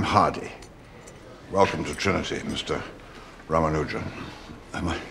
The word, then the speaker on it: Ramanujan: Rammanuja. Am I pronouncing that properly?